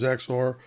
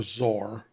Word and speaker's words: XOR: got an exclusive or what I refer to as exor that or zor but exor is what I normally say instead of all the